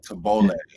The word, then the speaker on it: tabbouleh: Tabbouleh. Thank That's you. how you pronounce it. Tabbouleh, whatever.